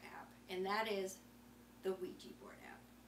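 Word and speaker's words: Weejee: So I would like to share with you my favorite app, and that is the Wejee board app.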